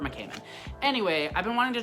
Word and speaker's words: McCammon: Is that how you say it? I always almost say McMahon. Okay, so it's Robert McCammon.